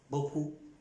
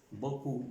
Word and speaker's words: beaucoup: una palabra como beaucoup, beaucoup, que hablados son, pronunciados son 4 letras, beaucoup, 2 sílabas, y escrito son muchas más letras.